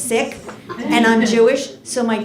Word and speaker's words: Sikh: Some people say he's Sikh, but the way to pronounce it is Sikh.